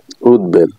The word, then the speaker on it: উদ্বেল: Nilambari Nilambari number পাঁচ উদ উপসর্গের এর সঙ্গে বফালাম যুক্ত হলে ব এর উচ্চারণ বহাল থাকে যেমন উদ্বাস্তু উদবাস্তু উদ্বেল উদ্বেল ব এর উচ্চারণ বহাল রয়েছে আশা করি আপনারা বুঝতে